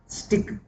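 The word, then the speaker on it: Stilk: स्टिक L silent है।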